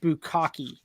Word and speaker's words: bukkake: It's pronounced bukkake.